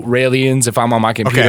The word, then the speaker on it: Raelian: it's Raelian is Raelian, Okay. as in rye bread, and then sorta alien.